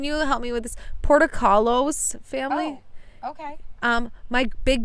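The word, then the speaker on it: Portokalos: How do you say it? Portocolos. I'm not Grecian or Greek. I mean, we're sisters. I'm not Greek either. Portocalos. Portocalos. She's just better at pronouncing things.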